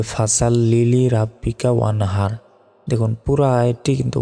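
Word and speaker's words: فَصَلِّ: জিনিস এখানে ভুল করি সেটা হচ্ছে ফাসাল্লি বলি লিলি নয় দেখুন একটা শব্দ রব্বিকা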